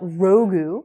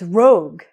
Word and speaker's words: Rogue: But honestly, dude, the girl's name is not Rogu or Ragu. No, he said Rogu. It's Rogue.